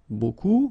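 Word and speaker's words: beaucoup: want to use Buu buku means a lot of it look it looks a bit strange B like that remember you don't pronounce the final P okay and then you've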